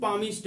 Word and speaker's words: palm: भविष्यवाणी करता है उसको पामिस्ट बोलते हैं। उसको क्या बोलते हैं, पामिस्ट। PALM, इसको पाम बोला जाता है, एल साइलेंट रहता है, इसको पाम बोला जाता है, PALM, पामिस्ट।